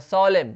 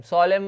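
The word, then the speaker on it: solemn: और सोलेम, सोलेम मतलब होता है गंभीर, ठीक है, तो सोलेम, यहाँ पे एन साइलेंट है।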